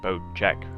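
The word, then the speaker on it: Bocek: uh the new bow everyone's talking about the boat check bow it is pronounced boat check right there i believe it was named after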